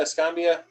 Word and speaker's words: Escambia: um in 2016 what's it how do you pronounce this Ste Escambia Escambia yeah scambia Escambia Count's SP Escambia right Trump